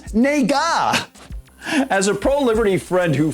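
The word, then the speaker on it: 那个: word and it's pronounced nega as a pro-liberty friend who frequently travels to asia told me stress is on the first syllable and the second syllable is very slight almost clipped it means that or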